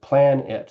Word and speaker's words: Planit: And if you, it's spelled like plan it.